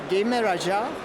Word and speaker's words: Gejmeraja: Gejmeraja. Okay. Igra nas spaja. Yeah, very close. It's Gejmeraja. Igra nas spaja. Our J is sort of like the Y in English.